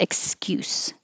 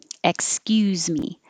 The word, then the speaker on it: excuse: if it's a noun excuse with an s at the end don't give me that excuse excuse if it's the verb like excuse me then the s sounds like a z excuse me or you don't even